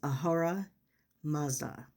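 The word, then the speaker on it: Ahura Mazda: is Ahora Maza.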